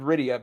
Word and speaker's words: Rydia: and Rosa uh and Radia radio okay whatever points for for pronunciation you butchered Rydia but Cecil that's good